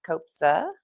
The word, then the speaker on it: Kobza: Um, I'm super excited to introduce you guys to my guest today, Grant Copa.